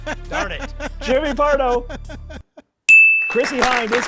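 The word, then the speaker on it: Chrissie Hynde: Chrissy Hind is correct, of the Pretenders.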